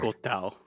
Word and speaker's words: Quetzalcoatl: Quetzalcoatl. And yes, that is how you Quetzalcoatl.